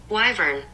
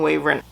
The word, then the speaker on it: wyvern: grow from the ground wyvern wyvern I've been mispronouncing that um I kept saying wavering you have Theodore a